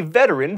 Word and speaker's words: veteran: be super fun Napoleon was a veteran three syllables not two of the Napoleonic Wars